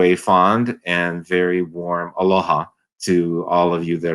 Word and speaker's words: aloha: It's actually two syllables, and the syllables alo, which means really to give, and then ha means life. So when you say aloha, and what it actually